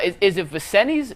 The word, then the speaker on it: Vincennes: started I can't even pronounce it is it vicenti's Vincent's how do you pronounce the Juco Vincennes so you won a national championship as a